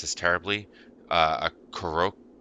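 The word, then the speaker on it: korokke: A koroke. It's like a Croquette. Japanese. No, it's a Oh, no. Croquette. K-O-R-O-K-K-E. Croquette, but like it's the Japanese it's croquette pronounced in Japanese.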